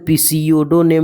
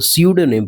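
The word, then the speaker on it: pseudonym: तो स्यूडोनेम, अच्छा ये पी है तो पीसीओडो नेम नहीं पढ़ेंगे इसको, पी साइलेंट रहता है, ठीक है। तो स्यूडोनेम पढ़ते हैं इसको, है ना।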